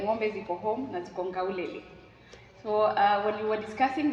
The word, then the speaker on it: Nkaulele: And then the guy was like, Nkaulele. But the way he pronounced it was now what, you know, captured my attention. I think he said, instead of K, I think Maasai's use G instead of K.